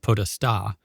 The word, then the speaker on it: Podesta: In Italian, it's actually pronounced Podesta, and it means power.